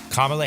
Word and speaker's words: Kamala: Kamala, did I say it right? Yeah. Kamala Harris.